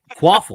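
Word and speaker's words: Kvapil: are you saying what qule I don't know how do you say that V is a w qu qule quaffle the a is an O the is qu wait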